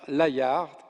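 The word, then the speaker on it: Layard: est celle du britannique Richard laillard je prononce à la française qui a été un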